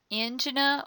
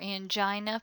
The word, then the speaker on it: angina: So the first one we're going to start with is angina or angina pectoris. Either way is pronounced correctly. It depends on what school of thought you went to and where you happen to grow up.